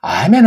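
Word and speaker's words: Amen: 우리가 알 길이 없고 아멘 아멘 아니 왜 이 발음이 안 돼가지고 미국 애들 기도하는 거 보면 에이멘 에이멘 아니 아라는 발음이 안 돼서 그런 겁니까? 또는 티를 내려고 잘난 체한 겁니까? 아자 발음이 안 넘고 좀 어떻게 혀가 언챙이로 잘못된 것 아닙니까? 아멘 하세요. 아멘. 만국 공용어 어다시피 돼 있는 건데요. 이게 아자예요. 아자.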